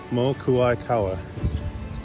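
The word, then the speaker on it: Mokuaʻikaua: Yeah, I guess I always rush the name out and it ends up getting butchered. But Mokuaikawa.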